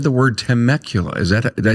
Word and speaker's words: Temecula: temecula california that i've never said the word temecula is that did i say it right you